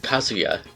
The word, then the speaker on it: Kazuya: hmm i'm not sure the smash announcer pronounces his name like it should be pronounced kasuya and not how everybody like including us probably says it which is kazuya kazoo no hard names